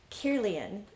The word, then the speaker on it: Kirlian: 40 years after Kilner was taking pictures through those lenses of glass, Kirlian started his photography.